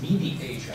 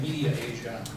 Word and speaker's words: MediAsia: and mass communication um I always pronounce this Medi Asia I didn't see the other a in there so instead of saying media Asia when everybody asks me